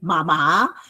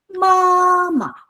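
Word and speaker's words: 妈妈: So when you say mama, you don't say mama, you say mama. Okay? The emphasis is on ma and ma the second mark is slightly taken over.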